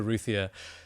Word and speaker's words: Routhier: So, Rae Routhier, is it Routhier? Is that how you pronounce it?